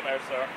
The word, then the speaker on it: Ameristar: Next stop, Ameristar. Is that how you say it? Yeah, Ameristar.